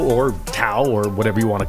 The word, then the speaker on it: Tao: Literally, the opening line of the Tao Te Ching, which is spelled with a T but is pronounced with a D by many, quite confusing, is the Tao, or Tao, or whatever you want